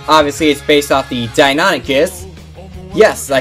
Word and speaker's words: Deinonychus: cycle charger which obviously is based off the Deinonychus yes I said it right over here you have the animation number 11 and the Deinonychus head over here yeah the dine on it